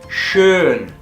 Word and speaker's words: schön: Por ejemplo, schön. Tú pones la forma de la boca como una O, como cuando vas a decir la letra O, y dices una E a la vez, y te va a salir este sonido. Schön, das Brötchen, schön, bonito,